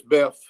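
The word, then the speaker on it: Boeuf: with the right pronunciation, is it Beth? Which I believe is B-O-E-U-F, and I think it is Beth. Beth. Okay. Yep, just like it's B-E-F.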